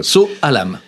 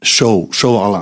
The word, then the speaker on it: Sou Alam: sur ma page sous So Alam. Alors moi je dis So Alam, mais la bonne prononciation c'est Show Alarm.